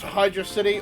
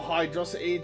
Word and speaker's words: Hydrocity: Uh, that was Hydro City or Hydrosity, depending on how you want to pronounce it.